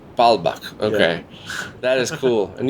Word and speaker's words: Baalbek: I always forget the pronunciation. It's called Baalbek. Baalbek.